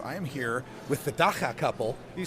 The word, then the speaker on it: dagga: I am here with the dagga couple.